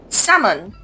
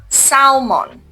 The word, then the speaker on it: salmon: Now L is silent here. So you say salmon, not salmon.